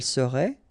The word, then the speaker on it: serait: Il serait, elle serait, final T not pronounced.